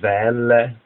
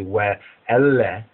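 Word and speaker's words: ואלה: Now, we said that the key words, the first two words, some pronounce it Ve'ele, Shemot, or really more correctly, Ve'ele, Ve'ele, Ve'ele, Ve'ele, Shemot.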